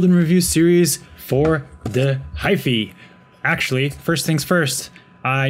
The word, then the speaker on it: Hyphy: the last video where I was calling it the Hyphy. That is wrong, and I've been told so multiple times. So the proper pronunciation is Hyph, as in wife, apparently. So with that out of